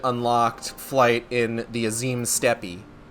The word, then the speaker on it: Steppe: So in this area, I've really only unlocked flight in the Azim Steppe. That's just pronounced steppe. I'm saying steppe to be cute.